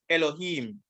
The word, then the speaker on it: Elohim: There it is, Elohim. Here's the pronunciation.